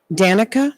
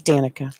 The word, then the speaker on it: Danica: NASCAR star Miss Patrick now how do you pronounce her first name NASCAR lady Danica that's what I was GNA say right it is Danica good she went on a rampage against Danica